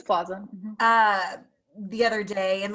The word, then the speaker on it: Plaza: It reminds me, I was watching an interview with Aubrey, I never know how to pronounce her last name, Aubrey Plaza. Is it Plaza? It's Plaza.